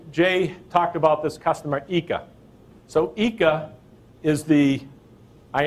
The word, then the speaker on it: ICA: talked about this customer eeka so eeka is the eye and it's actually spelled ICA but it's pronounced eeka I was corrected by